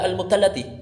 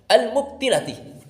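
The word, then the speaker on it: المبتلة: Jadi ketika dia membaca imrarul yat almati mestinya dibaca almubtallati tapi dia membacanya almubtilatiul almubtilatih kata dia dibaca almilatih ini keliru salah sekali lagi ini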